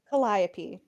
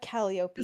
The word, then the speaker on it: Calliope: Sasha, and she goes, John, it's pronounced Calliope, not Calliope.